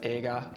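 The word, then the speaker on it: 映画: would be the kanji for movie which is pronounced aega so that's what i would have for my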